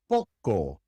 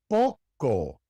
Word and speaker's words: poco: The O is always pronounced O. It is never O or A or A. It is always O. The great majority of English speakers who learn Spanish pronounce this letter wrong because they want to pronounce it O, like the long O in English. It is never O. It is just O. O, as in poco, poco.